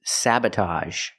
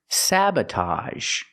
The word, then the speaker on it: sabotage: wearing a camouflage shirt our next word is sabotage sabotage same sound with ag a a sabotage the first syllable is the short a like black cat sa Sab the second syllable is relaxed uh Sab sabotage sabotage is